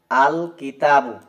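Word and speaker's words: الكتابُ: তাহলে উচ্চারণ হবে দেখেন আল কিতাবু। এই কাফটা হচ্ছে হরফুল কমারিয়া। অর্থাৎ এইযে কাফ। এইজন্য এখানে লামটা উচ্চারিত হচ্ছে।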